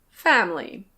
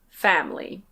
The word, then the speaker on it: family: It's also quite common if a schwa is followed by a /l/ sound, like in "family". Remember, you can say "fam-i-ly" or "fam-ly".